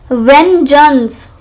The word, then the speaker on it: vengeance: सकते हैं हम इसको we can pronounce it as vengeance, but no, we have to pronounce it as vengeance. Ven and geance, we will not be going to pronounce it as vengeance. We will be pronouncing this word vengeance.